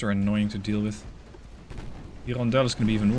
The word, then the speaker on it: Hirondelle: So, Hirondelle. Sorry, Hirondelle, they don't pronounce the H.